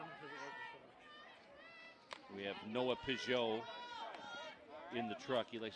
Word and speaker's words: Peugeot: We have Noah Peugeot in the truck. He likes to be called Noah Piggott, but I don't like the way that sounds, so it's Peugeot. It's French.